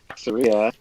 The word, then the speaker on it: Ataraxia: After typing it incorrectly, it's Ataraxia.